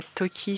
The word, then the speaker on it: Tokhī: Alors Nazo Tohri, je pense que c'est Tohri et pas Toki si ça se prononce à l'arabe, donc nous emmène à la fin du XVIIe siècle.